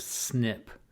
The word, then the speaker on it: SNP: the population or so snp is pronounced snip here's an example of